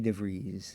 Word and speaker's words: DeVries: That was put on by our great friend, Vicky DeVries. Rhymes with cheese.